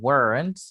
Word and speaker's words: weren't: Entonces, fíjense bien que normalmente wasn't and weren't lo utilizamos, a ver, weren't lo pronunciamos como una sola sílaba, weren't. ¿Ok? No decimos weren't ni weren't, but weren't. ¿Ok? Entonces, una sílaba, weren't.